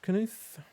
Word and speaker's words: Knuth: He says Stanford Canute. I believe I'm pronouncing his name correctly. I've been corrected on that once before. But I think it's Canute spelled like canoe.